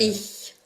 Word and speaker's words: Ich: Ich. Ya, jadi cara membacanya ya saya kasih ini. Jadi itu saya. Saya. Ya, CH Bapak Ibu sekalian itu seperti KH, gitu ya.